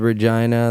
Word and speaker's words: Regina: from the capital yeah it's called Regina the Rolling Stones made it famous by saying reject the city that rhymes with fun ah yeah I'm sure